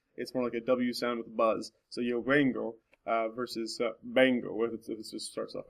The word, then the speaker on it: vengo: So like this word right here, instead of being pronounced vengo, it's pronounced bango.